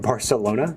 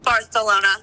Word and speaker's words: Barcelona: to fly to Barcelona do you mean Barcelona Barcelona it's how the locals say it actually um I should